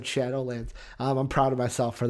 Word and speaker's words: Shadowlands: In my head, I thought Shadow Legends, but out of my mouth, I said Shadowlands.